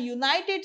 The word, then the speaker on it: united: using and wrong there because u is pronounced as y u okay y sound is there okay it is pronounced as y u united nations or united states senator it is not used as a knighted what is the sound